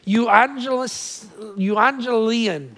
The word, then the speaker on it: euangelion: It's a Greek expression. Phonetically, it goes something like this: euangelion.